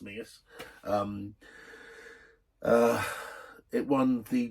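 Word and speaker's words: Menzies: it the mingis but menes as a Scottish name is pronounced mingis um uh it won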